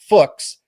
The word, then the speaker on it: Fuchs: His last name is pronounced like books. This is Jack Fuks out of the state of Tennessee.